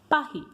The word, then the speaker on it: Paris: And how we pronounce Paris? Paris.